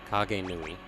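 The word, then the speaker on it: Kagenui: Wait, how's the I pronounced? It's like an E. Kage Nui.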